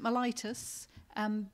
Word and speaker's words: Mellitus: you stay awake Saint mellitus is it's we pronounce it mellitus because Bishop Richard Chart as the previous Bishop of London pronounced it st.